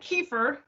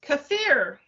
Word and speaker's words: kefir: niece taught me last week that it isn't kefir, it's pronounced kefir.